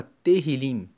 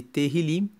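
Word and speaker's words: Tehilim: Salmos no no texto original ele se chama Terril, que significa que se escreve T E H I L I M e Terrilim significa louvores.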